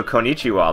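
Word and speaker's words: こんにちは: wa but uh you you technically would use that ha letter because it it came from a phrase like this day is or good day that kind of thing and so it was originally the the particle W which is actually a ha but it sounds it sounds like w all right Waluigi so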